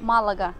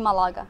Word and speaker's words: Малага: В испанском ударение ставится обязательно, поэтому читается Малага, а не Малага.